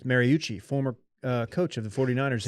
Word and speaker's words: Mariucci: Speaking of Chattahoochee, rhymes with Mariucci, former coach of the 49ers in San Francisco, Steve Mariucci.